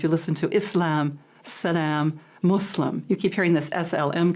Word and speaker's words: Muslim: many different pronunciations but the most correct is islam and muslim muslim yeah we're and now